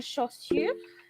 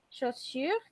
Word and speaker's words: chaussures: Lo mismo con chaussures. Attendez. Chaussures, que son los zapatos. Chaussures, d'accord? A U se pronuncia como O. Y la U simple, U.